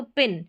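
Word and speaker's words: pin: ये कैप पढ़ा शॉर्ट अब जैसे पी आई एन यानी कि दो कसोनेंट के बीच में आई है तो पिन शॉर्ट साउंड लेकिन पिन ठीक है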